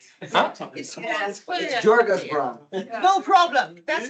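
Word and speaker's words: Djurgårdsbron: It's Jorga's Bron. No problem. That's how we pronounce it in Swedish.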